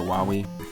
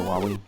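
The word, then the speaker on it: Wily: bass mega man proto man dr wylie dr wawi sorry i said it wrong dr wali and dr light it's pretty nuts the amount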